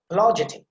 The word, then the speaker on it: apologetic: correct pronunciation, apologetic, see, ja sound there, you have to put some emphasis, and secondary stress is there before the pa sound, so apologetic.